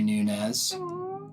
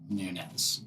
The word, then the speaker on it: Nunes: thank you Nunez you say my last name right really yes all right well again for everyone out there it's Nunez and he said it